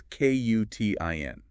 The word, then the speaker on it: Quitin: Just want to make sure I'm saying it right. It's Qutin. That's it, Qutin.